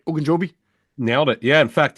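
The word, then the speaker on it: Ogunjobi: on defense and know Larry oen Joby I pronounced that right oen jobi nailed it yeah in fact he didn't not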